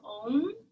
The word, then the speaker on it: Om: you the chant is own you'll hear some people say uh like there's more than one syllable you can say it